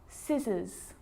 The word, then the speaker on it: scissors: few problems because it's often silent after the letter s like in these very common examples they're quite tricky muscle muscle scissors fascinate seam scenario muscle